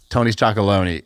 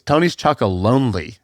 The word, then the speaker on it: Tony's Chocolonely: It's not Tony's Chocolone. It's Tony's Chocolonely. Do you know that?